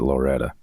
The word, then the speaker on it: Loretto: not from there it's anybody there would pronounce it Loretta like Loretta Lynn it's it's a Loretta Tennessee and and it's